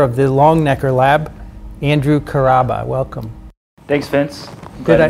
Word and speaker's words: Karaba: the longnecker lab andrew caraba welcome thanks vince good to be on the show did i say carraba correctly there are many ways you could pronounce that but we pronounce it very good thanks for